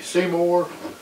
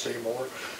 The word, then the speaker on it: CEYOMER: m u r and most of the videos i've seen on is pronounced seymour and to be a